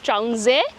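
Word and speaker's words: Traunsee: শুভ্র বলে যে ট্রাউনজে।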